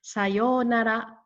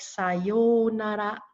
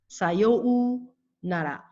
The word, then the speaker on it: sayonara: people would pronounce it sayou nara, sayou nara. With the U in it, people tend to emphasize it and stress it. In Japanese, the U is not stressed.